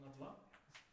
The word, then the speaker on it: nabla: This is pronounced nabla.